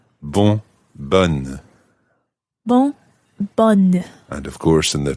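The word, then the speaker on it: bonne: wouldn't say but and you sound the N it's a double n e as opposed to b-o-n and the masculine form b-o-n-n-e in the feminine form ban and of course in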